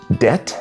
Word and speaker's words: debt: Debt has a B which does absolutely nothing.